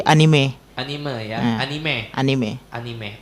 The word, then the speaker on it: anime: Ini dibacanya anime atau enim? Ee enim saya ya. Anime bisa? Anime bisa, enim bisa. Anime bisa, enim bisa. Ya, biasanya yang paling benar yang mana? Enim, anime. Kalau dari pelafalan Jepang sih anime.